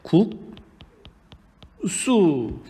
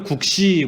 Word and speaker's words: 국수: 먹어도 좋고 따뜻한 국물에 먹어도 좋고 자 어떻게 발음 하 죠 근데 국 수 어떤 사람이 국시 그렇게 금사 툴입니다 국수 자 어떻게 발음 됩니까